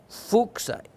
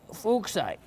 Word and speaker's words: Fuchsite: Bahia, Brazil, Fuchsite, and you got to get that right. Fuchsite, and named after a gentleman named Fuchs.